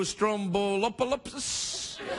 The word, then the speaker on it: Stroumboulopoulos: without being a jerk about it you said Stroumboulopoulos perfect right perfect people must have given you